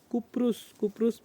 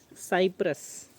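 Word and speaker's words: Cyprus: तो वो द्वीप के पास से, या ये साइप्रस है, साइप्रस के जो टापू है उस टापू से हम लोग ये हमारी रूट थी हमारी फ़्लाइट की साइप्रस। इसको आई थिंक कुप्रुस भी बोला जाता है।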